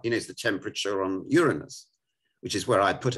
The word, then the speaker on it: Uranus: He knows the temperature on Uranus, which is where I put him. Or Uranus, as the Americans pronounce it.